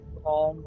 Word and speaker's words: Psalm: I know why you said palm instead of the real name, but the P is silent. Palm, I know.